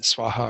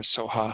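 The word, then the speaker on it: स्वाहा: And Swaha or Soha, however you pronounce that.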